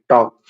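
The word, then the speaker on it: talk: जो है साइलेंट है जैसे यहां पर है टॉक है ना यहां पर एल साइलेंट है आ गया वुड वुड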